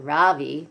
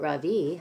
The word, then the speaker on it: Ravi: So we're going to see how Ravi, not Ravi, but Ravi, how he goes and adjusts to his new life at Albert Einstein Elementary.